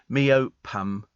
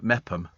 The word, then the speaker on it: Meopham: If you're a foreign student coming over and they go, "How do you pronounce that?" Meopham. Something. No, Mepham. Mepham.